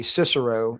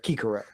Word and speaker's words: Cicero: Um it's the reason we we say Cicero instead of Kikero.